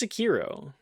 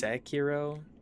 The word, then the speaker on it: Sekiro: That's just Sekiro, right?